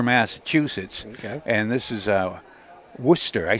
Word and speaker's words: Worcester: Coming off of a win over at Worcester, 2-2-4.